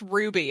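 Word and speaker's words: RWBY: like f something something R WB y it's pronounced Ruby I looked it up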